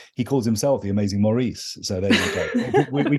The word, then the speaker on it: Maurice: in a footnote that Americans and people across the pond pronounce that differently because I've always pronounced it Maurice well there you are